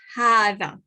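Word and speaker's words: هذا: this okay and then we pronounce it as if there's an alif here okay um but when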